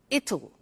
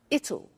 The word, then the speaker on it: it'll: cold you notice how it will be comes it'll it'll strange pronunciation yeah so tomorrow it will be cold